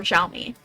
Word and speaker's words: Xiaomi: SP19 is a brand ambass ambassador for Xiaomi.